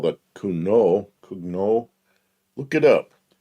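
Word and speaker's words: Cugnot: And I don't know how to It's French, so it's like kuno. I don't know. You don't pronounce the end of the You don't use most of the Yeah.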